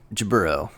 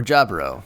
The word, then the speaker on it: Jaburo: All right, let's talk about Jaburo or Jabro. Oh, no. or Jabra depending on how however you want to pronounce it depending on your habu.